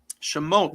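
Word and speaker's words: שמות: We are in the Parsha that is called Shemot. Am I pronouncing that correctly, Rabbi? Beautiful. Shemot.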